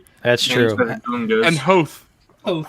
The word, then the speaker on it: Hoth: and Hoth. Oh, Oath. Yep. Oh, Yeah. Hoth.